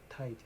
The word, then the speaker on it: tide: the problem with 23 is when the D's at the end, you have to pronounce the vowel before it a little bit longer. So if I say the two words, fat, fad, cart, card, tight, tide.